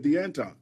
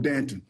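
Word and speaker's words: D'Anton: is it abbreviated now now I know that it's it's is spelled deanton and you would not be wrong if you said deanton that's right but we're from Texas ke we're from Texas we call him Danton okay so so how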